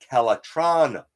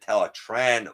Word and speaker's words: Teletran: only beast force character pronounced teletran one correctly while most of them said teletron one this character said tell a tran one was it a